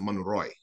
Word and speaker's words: Monroe: So for example, even they have like Monroe is an avenue, like James Monroe, but they pronounce it Monroy.